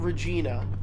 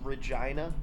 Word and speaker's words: Regina: not on your list not Regina like the name would be spelled but officially pronounced Regina uh what about cus